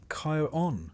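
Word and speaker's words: Charon: Even if you've never quite been sure how to pronounce his name, it's Kyon for the record, though he doesn't seem the type to correct you. Karen's job was simple, to ferry the souls of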